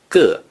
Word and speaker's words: 个: Therefore, in modern times, the character ge means single or individual. When it is used as a major word, it is pronounced with the neutral tone, g.